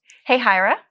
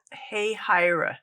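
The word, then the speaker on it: Hahira: Jacksonville okay yeah how do you say this hey hyra hey hyra M what kind of name is that I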